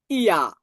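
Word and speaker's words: ja: এজন্য ইয়টটাকে আমরা রস্যই ধরছি, আর এটাকে আমরা ধরছি আ, তাহলে কি হয়? ইয়া, ইয়া। ঠিক আছে, তাহলে ইয়েসকে আমরা সাধারণত জার্মান ভাষায় বলবো ইয়া।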